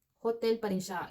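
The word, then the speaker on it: hôtel: In French, we have the same spelling ng hotel. Hotel pa rin siya. H O T E L. Pero ang pronunciation niya in French is hotel. Hotel. Silent H.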